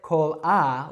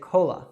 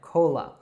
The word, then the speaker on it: Cola: So we don't say cola, we say cola. It's like a very reduced short sound there, cola.